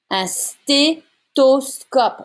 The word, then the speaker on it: stéthoscope: Un stéthoscope. There's no TH sound in French. It becomes a T sound.